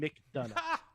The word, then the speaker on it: McDonough: JD McDonough. It's like Triple H saying done. But not.